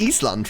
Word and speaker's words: Eastland: It's just Eastland, right? So it's also not pronounced Island. I think it's called Eastland. Yeah, it's Eastland.